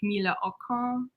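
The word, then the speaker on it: Camilla Åkrans: makes it yeah so here we have uh camilla acrons um she is a swedish photographer so technically her name is pronounced like camila ocon but the number of times i listen to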